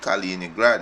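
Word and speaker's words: Kaliningrad: on his full frontier with Europe in culturally Calina grad right calliní grant if you pronounce the word right right he's a in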